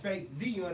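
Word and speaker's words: Fabyon: Your boy, Fake Vion. That's 3 syllables. F-A-B-Y-O-N.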